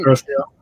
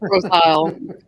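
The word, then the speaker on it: Grosse Ile: No, you keep saying Grosse Isle, girl. I do it on purpose. Well, like the John Cusack movie is Grosse Point, right? It's spelled the same way, gross.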